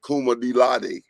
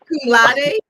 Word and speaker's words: cum laude: She's trying to be Kuma Dilade. How you say that word? How they say it? Y'all help me out. Akuma, Ak- Cum laude.